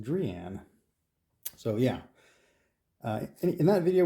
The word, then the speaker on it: Drean: the name of the company, which I was pronouncing Drean, rhymes with dream, and it apparently is actually correctly pronounced Drean.